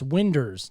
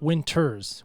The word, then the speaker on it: Winders: your last name wrong it's winders not Winters winders so let's get that right I answered to a